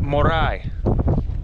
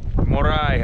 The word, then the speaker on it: Moray: and this is for you it is actually pronounced morai morai uh the site of the incas the experimental